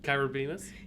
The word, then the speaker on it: Kyra Beamis: Kyra Beamis?